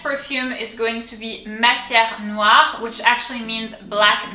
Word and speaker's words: matière: So ma, let's break it down. Ma, very simple. T-I-E, tière. So here you can see the E has an accent. It's the opposite side of the accent that we've seen before. This one is called accent grave and it's pronounced E, matière. R comes from deep down.